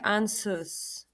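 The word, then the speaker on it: Ansuz: This is said like ansus. To me, it sounds like answers.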